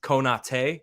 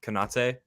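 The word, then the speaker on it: Konaté: Did you know that, technically speaking, it's Mane and not Mane? It's Konate and not Konate. That's what that dash on the E means.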